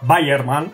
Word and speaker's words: Weyermann: malterías más conocidas pero que se lee parecido a bayerman si queréis pronunciarlo mejor